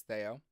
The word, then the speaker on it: Theo: Everyone pronounces it Theo. It is not. It is Theo.